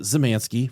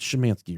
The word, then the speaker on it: Szymanski: ray Szymanski and I pronounced it Szymanski for about three weeks straight I kept on saying about ray M Szymanski but she Manske right perfect perfect okay mr.